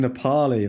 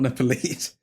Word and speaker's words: Nepali: nepales in me uh speaking Nepali that's what it's NE Nepali not nepales um Manchester United normal